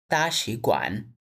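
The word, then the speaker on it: 大使馆: এক নাম্বার দায়ান আচ্ছা এখানে আমাদের দুইটা থার্ড একসাথে আছে তাহলে আমাদের প্রথমটা সেকেন্ড হয়ে যাবে তাগোয়ান এভাবে উচ্চারণ হবে তাগোয়ান অর্থ এম্বাসি এই ছয়টা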